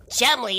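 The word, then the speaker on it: Cholmondeley: Chumley, that's not what it says on the screen. Yeah, I know, that's how he pronounced his name.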